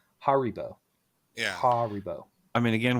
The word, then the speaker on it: Haribo: So, is it pronounced herbo or haribo? Haribo.